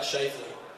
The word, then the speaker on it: Scheifele: to pronounce my last name so um oh pronounce my last name it's uh shle so uh yeah I didn't really get a